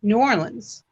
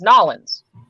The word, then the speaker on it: New Orleans: It's spelled New Orleans. Yes. But people say New Orleans. Actually, if you go locally, it's Nolans. Nolans.